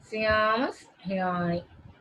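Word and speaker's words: Seamus Heaney: Syamas, the pronunciation, the phonetic thing is Syamas Rani.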